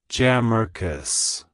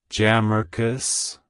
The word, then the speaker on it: Jamarcus: essentially a spin on the name Marcus it's pronounced as jamus jamus jamus to pronounce it correctly emphasize the thear and